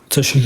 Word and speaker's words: Tashika: So, and then how do you pronounce? Is it Tashika? Yeah. Tashika.